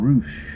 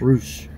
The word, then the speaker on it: Rush: They called him Roosh. Roosh. Even though it's spelled Rush. But it's Roosh.